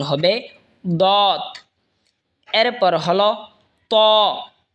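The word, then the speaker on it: طاء: এরপর হলো ত। ত জিহ্বার আগা সামনের ওপরের দুই দাঁতের আগার সঙ্গে লাগায় উচ্চারণ হবে ত।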